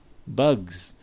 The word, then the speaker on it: bugs: different pronunciation for example if i say bugs all right even though it's spelled with an s but the pronunciation is definitely bugs because you have a voiced velar plosive over here that is affecting the af is affecting the fricative after that and changing it into a voiced sound due to assimilation